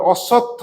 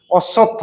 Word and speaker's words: অশ্বত্থ: না না না না, নির্মলের উত্তর ঠিক ছিল, কিন্তু আসল নামটা বলে অশ্বত্থ গাছ। এও ঠিক বলছিল, উচ্চারণটা ঠিক হয়নি। অশ্বত্থ বলো।